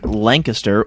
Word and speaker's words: Lancaster: And of course it's a double, and of course it's in Lancaster or Lancaster. Lancaster. Depending on how you say it. Lancaster is apparently the PA way to say it.